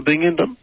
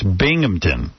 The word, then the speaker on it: Binghamton: Are you coming up to Binghamton?